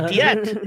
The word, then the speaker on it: teat: it's a tiat. It's pronounced tiat, by the way. It's Yeah. T-E-A-T.